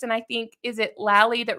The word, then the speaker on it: Lally: And here's one where we just did Lally rhymes with Sally.